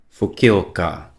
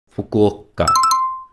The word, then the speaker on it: Fukuoka: Fukioa. Fukuoka. Yes. Yes. I know I've been pronouncing it wrongly and even now I cannot unhear my own mistake anymore.